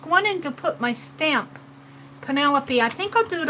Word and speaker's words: Pinelope: And Pinelope is spelled P-I-N instead of P-E-N because it's pin as in pincushion. Pinelope.